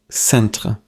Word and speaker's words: centre: Today's word is centre. Say it with me. Centre. In French, the final sound is clear, like the English word center.